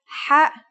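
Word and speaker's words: ح: Kha is a sound some people make when they laugh. It's also similar to the sound people make when they snore. According to phonetic charts, Ha is pronounced in a deeper part of the throat than Kha.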